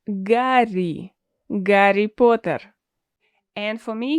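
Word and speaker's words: Гарри: Yes, we do pronounce Harry as Gary.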